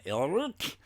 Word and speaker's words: Alrrk: The villains are Skysnik and Ilruk. That is spelled SKYZZNX and ALRRK.